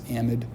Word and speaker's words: amide: And they're going to form this new functional group called the amide, or the amide. I will pronounce this amide.